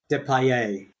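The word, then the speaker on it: Depailler: And I can tell you how that's pronounced because I have heard it pronounced in old formula. Depay. Depay. Very French.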